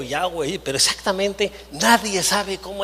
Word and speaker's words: Yahweh: Pero fíjense, nadie sabe, más bien debería de pronunciar algo parecido a Yahvé o Yahweh, pero exactamente nadie sabe cómo es el nombre de Dios, nadie, ¿no?